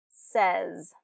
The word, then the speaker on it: says: Instead of it really, the way it's spelled, it should be said and says, but it is more of a short eh pronunciation. Said, says.